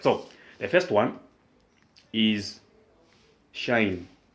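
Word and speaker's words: sinh: the first one is shine this one is pronounced as shine you pronounce this one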